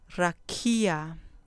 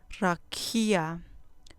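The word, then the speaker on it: רקיע: Rakia. Rakia. Con acento en la penúltima sílaba. Rakia.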